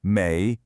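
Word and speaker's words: 没: To say I don't have, you're going to need this character, méi, pronounced méi.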